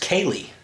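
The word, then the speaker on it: ceilidh: know how to pronounce it's pronounced kaylee i know it must be a gaelic term anyway akali is like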